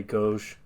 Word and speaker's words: gauche: Can you tell me how to pronounce that word? Gauche? That's right, yeah. Yeah, I would say gauche.